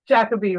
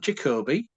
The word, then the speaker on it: Jacobi: I'll say it the way you Brits say it, right? Jacobi, right? Derek Jacobi, not Jacoby. Not Jacoby, because Jacoby is how we say it in the United States, and that's wrong. That's just wrong.